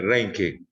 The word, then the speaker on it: Reinke: de rey quiere rain de origen alemán el alemán se pronuncia como se lee como el español estoy seguro que los cuerpos de rey y que de reinke ellas no van a